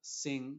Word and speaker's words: sing: Y, por ejemplo, la palabra sing no se dice sing con la G al final, sino que se va a pronunciar de forma diferente.